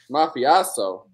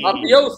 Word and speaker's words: mafioso: Like, you know, like in that like petty despot small town aspiring mafiosaso sort of uh mindset like mafiaso. Mafiaso. Hey, mafioso. Oh, they call it they pronounce it differently in the Midwest.